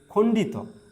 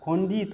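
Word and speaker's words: খণ্ড ত: অন্তস্থ অ অন্তস্থ অ ঠিক আছে এরপর আছে খন্ডিত আমরা বলি খন্ডি খন্ডি ই সাউন্ড করি আমরা কিন্তু না খন্ডিত না এটাকে বলতে হবে খন্ডত ওকে খন্ডত এইযে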